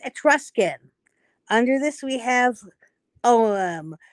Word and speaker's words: Ogham: Under this, we have Olam, which people think is pronounced Ogham, O-G-H-A-M, but it's pronounced Olam, the script of the ancient Druids of Ireland.